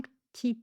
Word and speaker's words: petit: Un p un tit un p tit peu. Donc on ferme les lèvres comme si on allait prononcer un p mais on va rapidement vers le t.